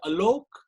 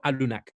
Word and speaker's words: Alunak: Is it Alok? No, Alunak. Alunak. Yeah, Alunak. Right.